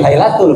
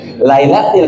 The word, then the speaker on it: Lailatil: Tapi kalau kita baca Quran surat ke-97 ayat yang pertama, inna anzalnahu fi, bukan fi Lailatul, fi Lailatil, karena ada huruf apa tadi? Jar, fi.